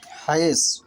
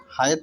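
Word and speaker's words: حيض: তাহলে এখানে যে বিষয়টা আরবি উচ্চারণ হবে হায়েজ, হায়েত নয়, কারণ সাদের পরে হরফ স্পষ্ট দলিল প্রমাণ বহন করে, সেটি জ, এখানে সেটি হায়েজ হবে। আর সেটি কখনোই হায়েত হবে না।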